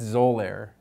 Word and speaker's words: Xolair: And that's Xolair. And that, to me, that just sounds like extra air.